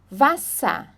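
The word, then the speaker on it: Wasser: na língua alemã tá por exemplo computa nós não falamos computer é computa tá então o er tem som de A tá computa computa vassa vassa como se não tivesse o r ali como se fosse um a né vassa Mena Mena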